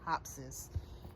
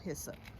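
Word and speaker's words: hyssop: That's how you say it. Hup plant. I think I was calling it hopsis. Hup. It's called hissup. Um, let's see what type of tomatoes.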